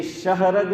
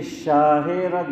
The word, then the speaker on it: شاہ رگ: بعضوں نے لکھا کہ دراصل اس کا صحیح تلفظ یہ ہے کہ یہ شہ رگ نہیں ہے، یہ شاہ رگ ہے۔ شاہ کا معنی کیا؟ بڑا نہیں، بادشاہ ہے۔ شاہ کا معنی کیا؟